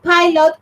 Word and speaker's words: pilot: it it has two syllables. Okay, and the stress goes in the first one, pilot. You don't say pilot, yeah? Pilot, You say the pilot.